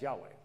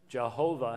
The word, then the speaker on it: Yahweh: That's not a possible pronunciation. Jehovah has three syllables. Yahweh only has two syllables.